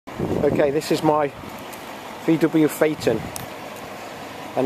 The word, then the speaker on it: Phaeton: even pronounce the word most people can't even pronounce the word faton most illiterate people are mean anyway that's what it is a faton look at that now some people buy cars